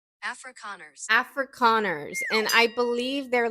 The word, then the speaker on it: Afrikaners: Afrikaners.